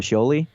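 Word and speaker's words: Scioli: creator interview podcast with uh writer artist tom sholey and uh that is how he pronounces it i asked beforehand because i'm a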